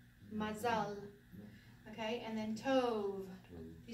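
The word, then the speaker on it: מזל: So mazal, mazal, mazal.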